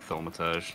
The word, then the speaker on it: Thaumaturge: Like, how do you pronounce it in English again? Thaumaturge, sure.